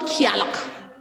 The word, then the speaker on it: Gaeltacht: It's called Gaeltacht.